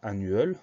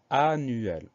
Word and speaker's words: annuel: Alors attention, c'est un mot qui termine en EL, mais ça se prononce quand même L. On ne dit pas annuel, mais annuel. L'explication orthographique, je ne l'ai pas, mais c'est ainsi.